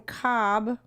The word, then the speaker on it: Cobh: we just got off the ship from Cobb." Yes. Typical. And then for those of you who don't know, it's spelled COBH, and it used to be called Queenstown, yes.